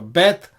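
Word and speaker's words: בית: So Bet is pronounced as a bilabial B sound.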